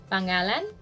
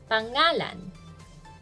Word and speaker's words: pangalan: would say means name pangalan stress on the second syllable that's pangalan now how do we